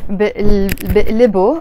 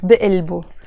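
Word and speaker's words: بقلبو: So I would say bi'libu, and I can even pronounce it bi'ilbu.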